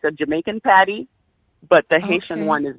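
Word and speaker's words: pâté: party okay what did you call it come spell it for me pepe p a yeah p-a-t-e patty okay haitian let's see what we have oh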